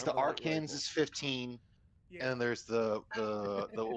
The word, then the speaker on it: Arkansas: It's pronounced Arkansas, you idiot. Arkansas. Well, I see.